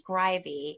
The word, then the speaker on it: Greiwe: c yep and then his last name is grivy and it's spelled the least intuitive you can think of it's g r e